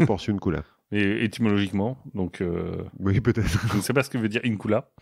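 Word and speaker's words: Porciúncula: Bah, il y a port et incula. Non, c'est un seul mot, Porciuncula.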